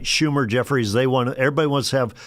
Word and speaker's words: Schumer: Schumer, you said it right, Schumer, Jeff, they want, everybody wants to have something go back to their base.